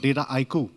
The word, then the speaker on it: Dataiku: to pronounce this company it's called data ico and data echo basically what it means is data which is data and haiku is basically a japanese poem